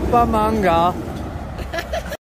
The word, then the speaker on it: Bumbunga: La la la la Lake Bumbunga.